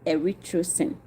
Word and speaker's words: erythrosine: This synthetic dye, also known as erythrocin.